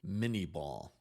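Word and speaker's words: Minié ball: The bullet was named after him, but the pronunciation was changed in English, and Americans referred to it as the mini ball.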